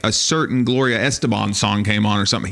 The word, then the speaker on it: Estefan: It really is Estefan. Yes. It's not Estebon.